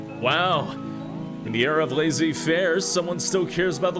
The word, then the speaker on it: laissez-faire: In the era of laissez-faire, someone still cares about the little guy stirring stuff from Tammy. Hey. Oh. Yes, laissez-fairs.